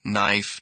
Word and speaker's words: knife: Common silent letters silent K. No, knife night.